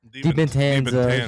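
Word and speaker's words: Dybantsa: DiBentanza. I can't even do it right. You said it right the first time. Yeah, you said it right, Bubba. You're supposed to say DiBentanza.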